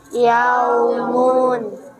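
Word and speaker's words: يوم: Fathah bertemu waw sukun. Yaumun. Fathah bertemu dengan Waw sukun. waw sukun. Kemudian harus dibaca apa? Wakof atau berhenti. Sehingga mimnya berubah menjadi sukun atau ma. Kemudian dibacanya Ja. dibacanya gimana? Yaum, dibacanya yaum. Biasanya panjangnya itu 2 sampai 6 harokat.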